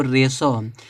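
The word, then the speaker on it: ratio: इसको बहुत लोग रेटियो पढ़ते हैं, तो रेटियो नहीं, देखो रेशो।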